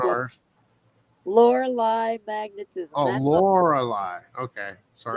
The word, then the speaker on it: Lorelei: Lorelei, that's how I learned to pronounce that. Of course, I'm not British. I'm not English either. I'm not Australian. So, American way is saying Lorelei.